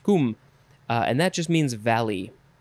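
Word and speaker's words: cwm: celtic origin akin to the welsh word c-w-m that is their word probably pronounced kum and that just means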